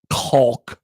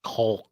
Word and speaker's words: Kalk: In the pronunciation guide this year, it says Kaulk. Caulk. Yeah. So there's no confusion with Kalk. Please hit the L.